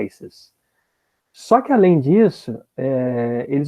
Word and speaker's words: ISIS: e aí usavam Isis a sigla Isis ficou mais famosa em inglês se pronunciava ices só que além disso